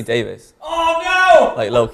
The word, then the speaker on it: Davies: on Twitter and Instagram it's actually Davis yeah feels like it's spelled Davies you're right and like everyone America says Davies I don't correct them